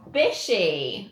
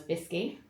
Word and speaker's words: Bisci: first guest hello Ellen bishy I have said it right haven't I perfect can we just discussed that until about 2 months ago I thought your surname was bisy everyone says it like